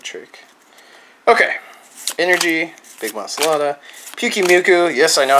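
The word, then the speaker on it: Pyukumuku: Pukimuku. Yes, I know how to pronounce that finally.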